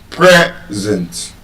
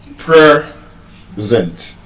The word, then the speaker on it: present: present As a noun, it will be pronounced as present. What as a verb it will be pronounced as what? present Observe the difference. As a noun, the stress is on the first syllable. present.